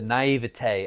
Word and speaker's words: naivete: By the way, I'm about to pronounce this, the naivete. I don't want to sound pretentious. I think Right. that's just actually how it's pronounced.